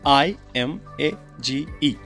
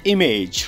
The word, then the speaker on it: image: yes we call it image right maybe image I mean just uh I'm feeling too bad for it fine so it's not image it's image fine it's